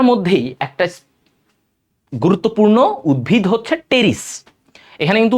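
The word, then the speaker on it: Pteris: আচ্ছা এখন আস টেরিডোফাইটার মধ্যেই একটা গুরুত্বপূর্ণ উদ্ভিদ হচ্ছে টেরিস। এখানে কিন্তু উচ্চারণ হবে টেরিস। অনেকে পিটাকে উচ্চারণ করো পি হবে না এখানে পি এর উচ্চারণ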